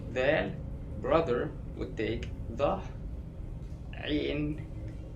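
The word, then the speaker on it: عين: Now, I think this is the hardest letter for non-Arabs to pronounce. It's way down here in your throat and it moves a lot when you make the sound, like it's kind of like a retching sound.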